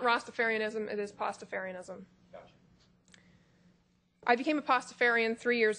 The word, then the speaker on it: Pastafarianism: you spell that sure it is p a s t a f a r literally like pasta with Fair okay if you if